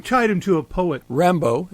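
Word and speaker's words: Rimbaud: him to a poet Rambo is the pronunciation yeah he he was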